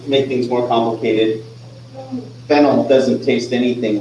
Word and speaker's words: phenyl: Phenyl is pronounced like the root vegetable.